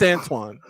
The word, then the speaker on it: Antoine: as well so okay how do you say this guy's name Tony Antoine it's Antoine oh yeah I'll